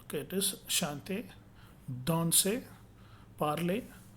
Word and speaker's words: parler: Final er always pronounced a, like English word day. Okay. Santé. Okay, it is chanter, danser, parler, travailler.